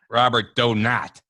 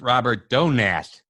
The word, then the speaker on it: Robert Donat: again on purpose okay he said it's not Robert donat he corrected me and said it's Robert donat is right on thank you John that was